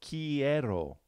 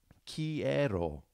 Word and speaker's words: quiero: to have her there so Q you to make that cook sound alright so quiero quiero take a minute to spell it okay she'd have Q you make that cook sound because Q always has to have you II would be the